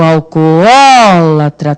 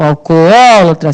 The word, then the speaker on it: alcoólatra: O alcoólatra, tem de pronunciar os dois Os, certo? O alcoólatra, senão você vai botar acento no primeiro O, vai ficar errado.